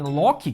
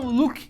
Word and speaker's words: Loki: ver mais pra frente, ao invés dos caras falarem Loki, que é a pronúncia em português, mas não, eles falavam Luke, que é a pronúncia em inglês. Cara, não faz o menor sentido isso, mano. Se tá dublagem em português, PTBR, velho, Loki, não Luke.